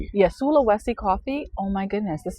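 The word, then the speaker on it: Sulawesi: How do you pronounce this? Oh, man. Sula Wesi. Yeah. Sulowesi coffee.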